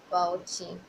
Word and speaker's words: Bauchi: So when I got my um deployment letter and I saw Bauchi, I don't know if that's how you. Some people say you pronounce it Bauchi, and some say you pronounce